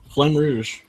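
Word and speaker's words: Flamme Rouge: was good tooo flm it's pronounced Flem y flam Rouge Flem Rouge okay means red flag red flag yeah yeah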